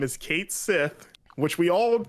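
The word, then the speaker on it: Cait Sith: came out and said that his name is Kate Sith which we all said that it was listen yeah that's that's not how hamaguchi pronounced it in the rapid fire though they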